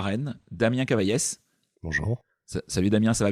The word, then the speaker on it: Cavaillès: recevoir à Rennes Damien Cavaillès. Bonjour. Salut Damien, ça va bien ? Ça va bien, ouais. Ouais, on dit bien Cavaillès ? Absolument. On prononce bien le S à la fin.